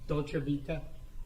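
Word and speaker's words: Dolce Vita: And is that when you go into the restaurant called And I always get the I pronounce it wrong, your honor. I'm sorry. Dolcevita.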